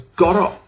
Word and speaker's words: gor'o: Nowadays people drop the F and the D and pronounce this as GOR'O, which sounds markedly akin to gotta, an Americanism of got to, which is kind of what GOR'O means.